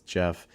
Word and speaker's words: Jeff: is me hello guys my name is Jeff it rhymes with breath let's load up our